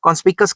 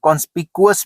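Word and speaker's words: conspicuous: ऑफ कॉन्स्पिकस, या फिर इसको कुछ लोग कॉन्स्पिकुअस भी कह देते हैं। ठीक है। कॉन्स्पिकुअस या कॉन्स्पिकुअस अलग अलग प्रोनाउंसिएशन है।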